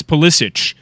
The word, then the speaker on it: Pulisic: The same guy that said no, it's Pulisic. That's the correct pronunciation.